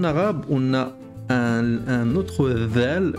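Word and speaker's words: ذال: En fait, on sort un peu la langue pour prononcer dhal. C'est la seule différence. Dhal. Ça c'est dal, dal, et ça c'est dhal. On sort légèrement la pointe de la langue quand on prononce.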